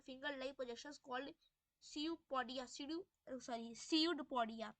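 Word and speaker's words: pseudopodia: ठीक है आगे है, इट पुशेस आउट वन और मोर finger like projections called सीयूपोडिया, सीयूडपोडिया, P silent है, ठीक है, सीयूडपोडिया, और false feed for movement and capture of food.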